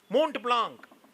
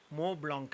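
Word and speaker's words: Montblanc: मोंट ब्लांक, बेटा मोंट ब्लांक तेरा पेन नहीं है, मो ब्लांक है वो।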